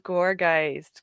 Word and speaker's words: Gourgeist: Oh, it is Gourgeist. Gourgeist. Okay. How do you spell it?